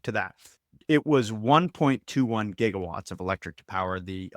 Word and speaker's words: gigawatts: It was 1.21 gigawatts of electric to power the electricity to power the flux capacitor, okay? Which I do believe he pronounced jigawatts.